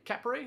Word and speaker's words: Capray: You have Tweaks, Cota, and uh Capay. Capray, that's how you say it. Capra.